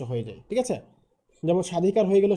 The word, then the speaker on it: স্বাধিকার: 1 নম্বর যে নিয়মটা সেটি হচ্ছে আদ্য ব্যঞ্জন বর্ণ ব ফলা যুক্ত হলে, মানে শব্দের শুরুতে যদি কোনো ব্যঞ্জন বর্ণ থাকে এবং এর সাথে যদি কোনো ব ফলা যুক্ত থাকে, তাহলে সাধারণত সেই ব ফলার কোনো উচ্চারণ হয় না।